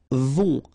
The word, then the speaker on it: vont: Then, ils vont. Final T not pronounced, and then on together, on vont.